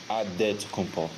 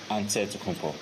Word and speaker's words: Antetokounmpo: a D, so it's Antetokounmpo. But in the Greek way, you say with the NT, like Antetokounmpo. Whatever you got, just say, it's Giannis Antetokounmpo.